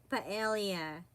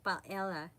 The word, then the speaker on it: paella: P it's you know we Filipinos or we usually say pelia we pronounce it but you know in Spain they call it paella so you know G